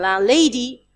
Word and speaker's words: landlady: We will hear the d sound in land, but not in landlady, landlady, landlady.